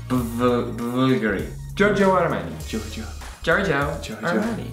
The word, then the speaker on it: Giorgio: This is interesting because the brand is actually spelled with a V, the way Romans used to spell the U. Bulgari. Giorgio Armani.